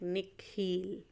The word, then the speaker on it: Nikhil: his parents say it the second part of it longer sounding like heel like she pronounced it like nick heel she bends down so